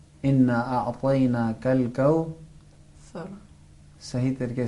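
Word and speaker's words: كوثر: वो ये कि ज़बान बाहर निकाल कर फूंक मारना है। कौ सर, कौ सर।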